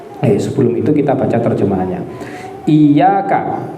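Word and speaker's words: إِيَّاكَ: Iyyaka, untuk cara bacanya ada ulama yang membaca hayyaka, ada yang membaca ayyaka, tapi umumnya dibaca iyyaka.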